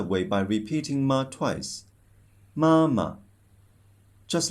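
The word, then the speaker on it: 妈妈: So you should pronounce it softly and shortly. Let's try again this word. Mama.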